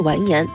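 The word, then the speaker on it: 完颜: 达姓王，因为女真人读王时发音是完颜，这就是完颜姓氏由来。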